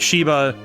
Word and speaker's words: Sheba: Pronounced Sheba. Okay, so it's like Sheba. So it's like Sheba the dog.